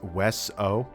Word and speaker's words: Weso: It's not way. But yeah. Okay. Let's. So the official pronunciation, it's Weso.